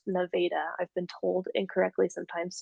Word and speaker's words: Nevada: It is pronounced Nevada.